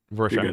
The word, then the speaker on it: Rorschach: It's like a Rorschach. Is that how you say it? Yeah, yeah, you're Rorschach.